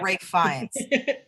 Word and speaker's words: Ralph Fiennes: Rafe Fiennes. Yeah, it looks like Rafe Ralph Fiennes. Fiennes, but you pronounce it Rafe Fiennes.